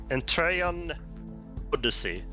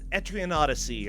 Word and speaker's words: Etrian Odyssey: just now and right now this month it's entreon Odyssey pronounce it right oh yeah etrian Odyssey uh I've never played any of those games